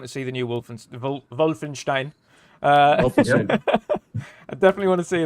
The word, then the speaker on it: Wolfenstein: gets such another nine it's a wolf it's not wolf and more of a v than a w wolfenstein oh yeah that was